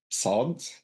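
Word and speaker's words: ص: Like I will say the S, Sin, and then Sad, so that you can hear the difference a little bit.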